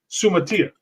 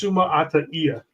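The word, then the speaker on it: Suamataia: future with that like everybody says kingsley's name uh sutia it's sumaa actually if you pronounce it the correct about how to say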